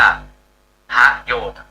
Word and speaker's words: ประโยชน์: ก็ คือ กรุณา ประโยชน์ ต้อง อ่าน ว่า พระโยชน์ อย่าง ประชุม เนี่ย คน